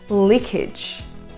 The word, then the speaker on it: leakage: A maioria das palavras que terminam com esse sufixo age em inglês nós pronunciamos age. Age. A gente confunde muito porque a palavra age, que significa idade, nós falamos com o A assim, age. Mas para as outras palavras o som vai ser edge.